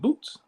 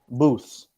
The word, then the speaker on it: Booths: The Feast of Boots. Booths. Oh, go ahead. Kind. Feast of Boots. What is Yeah. that? Booths, like a booth, like a phone booth.